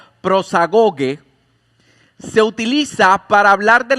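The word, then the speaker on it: προσαγωγή: Y es interesante, esta palabra acceso, que en el original se pronuncia prosagoge, se utiliza para hablar de la entrada de un barco a un puerto.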